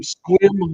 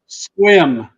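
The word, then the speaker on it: Sequim: there right is that accurate sequ so from squim Washington can you say it out loud one more time for me squim pronounced okay squim because I'll pronounce it wrong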